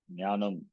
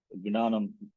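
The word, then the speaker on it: ज्ञानम्: like Kshatriya, Akshara, and Jakara followed by Nya will be Jnanam. This is not Gnana Mandal. Some people say Gnana Mandal, Jakara. That is wrong actually. Gnanam. Instead of Jakara, they pronounce it as Gakara, Gnanam.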